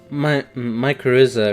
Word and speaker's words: mycorrhiza: Oh, okay, so, a mycorrhiza is how I'm pronouncing it from now on.